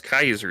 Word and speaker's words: Caesar: It's not Julius Caesar Zeppley. It's Julius Kaiser Zeppley, right? Because they go they go for that old Latin pronunciation, too. He specifically points it out. It's Julius Caesar, but it's pronounced the Latin.